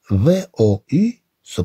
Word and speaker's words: vous: V-O-U se prononce vous.